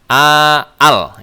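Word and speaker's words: ال: Al. Ya, kita bisa bacanya al. Ya, dan setahu saya tidak dibaca alif lam ya.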